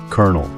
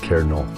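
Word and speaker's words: colonel: Kernel. Yep, that's spelled C-O-L-O-N-E-L, but pronounced kernel.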